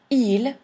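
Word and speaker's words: ils: for he the plural e you don't pronounce the S is they that is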